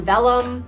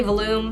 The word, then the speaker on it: vellum: Like we designed the actual invite and then we printed on vellum. I think that's how you say it. I used to say vellum. I think it's vellum. Oh my gosh, I always forget.